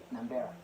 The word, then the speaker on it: Nambela: I'm always mispronouncing the son. Nambela.